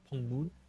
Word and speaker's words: Pock Moon: my last name it's it's pronounced pong moon but you write it Pock Moon so it's po Moon